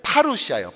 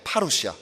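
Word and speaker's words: παρουσία: 강이라는 말과 함이라는 말입니다 다음 슬라이드 는 말은 파루시아 파루시아 한번 발음해 볼까요 파루시아 또한 담대함은 파레시아 자 예수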